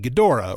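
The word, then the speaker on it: Ghidorah: that destroyed their planet that being gadora or gedra I'll try and say gadora since that's how they pronounce it in it um and there's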